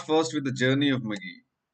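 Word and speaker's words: Magi: Okay, so we'll start first with the journey of Maggie. It's the word is Maggie, and Maggie is the plural of Magus. Can anyone tell me what is Maggi or Magus? It's not your Maggie as in Maggie instant noodles.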